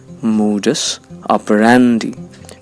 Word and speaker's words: modus operandi: first you'll find that the primary accent falls on the syllable that's pronounced rare which means it will sound louder than the other syllables modus operandi modus operandi it means a particular